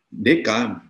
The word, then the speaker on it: Descartes: oleh Newton Newton dan DKM Descartes tulisannya DK bacanya dan alirannya kemudian ada